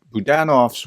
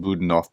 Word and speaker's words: Budanov: I covered this story Budan of's wife I called him budanov before I realized how I was mispronouncing it was poisoned uh and